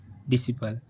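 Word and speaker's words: disciple: Next rule है हमारा सी silent. सी silent कब रहता है? जब एस के बाद सी आता है तो हमेशा ही सी साइलेंट होता है।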